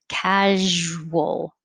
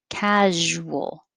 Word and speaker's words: casual: w casual i know it doesn't look like there's a w but we do pronounce it that way casual casual nine measure measure ten